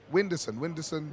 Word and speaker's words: Whindersson: Whindersson.